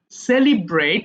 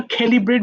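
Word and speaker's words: celebrate: সেলিব্রেট। এটা আবার ক্যালিব্রেট বলো না।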